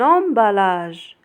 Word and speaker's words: emballage: Un emballage un emballage. N avec on se prononce non.